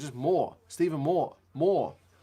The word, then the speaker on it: Moore: Like, it's just Moore. It's just M-O-R-E, but it's got an extra O in it. You don't have to change the pronunciation. It's just Moore.